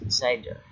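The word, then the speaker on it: CIDR: classes inter term domain routing pronounced cider created a new set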